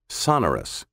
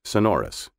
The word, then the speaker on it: sonorous: bells of a cathedral you may have heard this word pronounced sonorus with the accent on the first syllable instead of the second sonorus is originally a british pronunciation which in the mid 1900s gradually began making its way into american speech the traditional american pronunciation is sonorus when it comes to